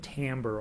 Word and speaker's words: timbre: word you'll hear once while it's spelled t t i m b r e timber with the r and the e s flipped timbre and that tells you